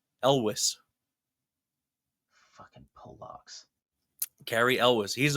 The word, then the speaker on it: Elwes: Because I've always said like Yules or whatever the fuck it was that I would say. I went Yules, then I went Elways, kind of like John Elway.